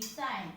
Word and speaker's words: sign: The letter G is silent in the word sign.